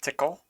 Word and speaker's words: TCL: Next up is Chapter 8.16, TCL, pronounced tickle, 8.6.16.